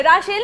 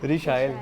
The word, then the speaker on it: रिशाइल: राशेल नहीं है, रिशाइल। रिशाइल है।